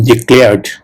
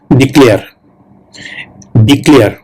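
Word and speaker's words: declared: করা হয়েছিল ওকে ডিক্লেয়ার এই ডিক্লেয়ারটা যারা বাঙালি তারা কিন্তু এটাকে উচ্চারণ করে ডিক্লেয়ার ডিক্লেয়ার কিন্তু একচুয়াল প্রোনাউন্সিয়েশনটা হবে প্রোনাউন্সিয়েশন মানে উচ্চারণ ওকে প্রোনাউন্সিয়েশন উচ্চারণ একচুয়াল প্রোনাউন্সিয়েশন হবে ডেক্লেয়ার ওকে হ্যাভ ইউ এভার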